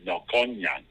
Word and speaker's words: Melkonjian: So, your last name is Melkonjian, correct? Yes. I pronounce it. I'm sorry. Sorry. No, you go ahead. Go ahead. It's German Armenian, so I know German, so I pronounce it in German, Melkonyan.